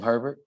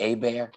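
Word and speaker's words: Hébert: all these other places everybody pronounces my name herbert but it's actually a bear i know that's a funny name but it's pretty common in new orleans so when you come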